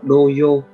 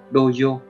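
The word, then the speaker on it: 童謡: Cách đọc của nó là doyo, doyo.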